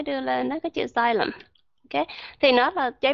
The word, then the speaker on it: xylem: Nhưng mà ở bên đó người ta đọc là xylem. Thì ở bên tiếng Anh thì chỉ có cái âm Z này, bên tiếng Mỹ đó chỉ có âm Z này là sát nhất thôi. Cho nên vẫn đọc là xylem.